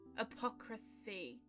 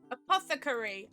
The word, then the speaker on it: apothecary: way to the oh, I forgot how to pronounce it. Apocryphy. Apothecary. Wait, I gotta look it up again. Oh god, this is embarrassing. Apothecary.